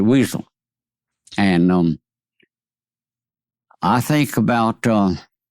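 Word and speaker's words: Wesel: They pronounced it Vazel. We pronounced it Weasel.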